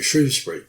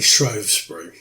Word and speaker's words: Shrewsbury: Thames to Shrewsbury, and it's pronounced like the animal, the shrew, S-H-R-E-W, Shrewsbury, although some people outside the area say Shrewsbury.